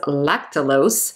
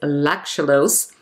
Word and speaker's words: lactulose: osmotic laxative which is lactulose which i've always pronounced as lactolose but apparently apparently it's lactulose lactulose is used for the treatment of hepatic